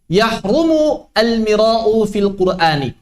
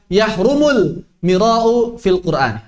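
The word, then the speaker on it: يحرم المراء في القرآن: memulai perkataannya dengan mengatakan yahrumu al-mira'u fil Qur'ani. Itu cara baca yang gak tepat sebetulnya. Yahrumu al-mira'u fil Qur'an. Cara baca yang gak tepat. Yang tepat adalah yahrumul mira'u fil Qur'ani atau fil Qur'ani.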